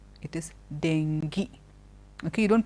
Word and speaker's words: dengue: of fever which comes in it is not dingo it is dengue okay you don't pronounce it thank you we pronounce it thank